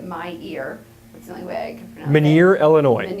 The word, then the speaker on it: Illinois: ear my wig Munir Illinois in Illinois or Hermione are you assuming the S is silenced in Illinois yes yes gotcha